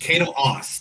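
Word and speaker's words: Caito Aase: in that movie first was man i cannot pronounce her name okay kato ass kato haas kato aas thank you so how much do you know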